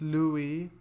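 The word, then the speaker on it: Looe: actually a town in Cornwall called that just Louie it's it's it's spelled Lou but it's pronounced Lou I believe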